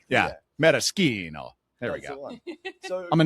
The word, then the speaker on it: maraschino: What is the relationship here between these and the Luxardo Maraschino that I'm sure if anyone's familiar with any of Luxardo's products is that one. Yeah. I mean, so first is pronounced maraschino.